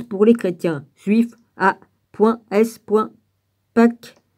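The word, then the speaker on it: Peake: Pâques, je prononce ça comme ça, P-E-A-K-E, soutient cette solution.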